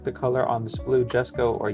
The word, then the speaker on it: Jesko: I'm not sure how to pronounce it. I think I've heard it pronounced both ways, but I mean the J is there, so I'm going to go ahead and call it a Jesko.